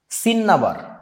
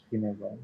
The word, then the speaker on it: cinnabar: সিনেবার। এইটার ইংরেজি বানানটা হচ্ছে CINNABAR। সো এখন এই ডাবল এন আছে বলে যে ডাবল দুইটা ন হবে বাংলা উচ্চারণে তা না, কিন্তু ইংরেজি উচ্চারণটা এরকম সিনাবার।